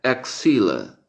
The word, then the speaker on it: axilla: Y en inglés médico se usa la misma palabra, pero se pronuncia axilla, axilla, axilla.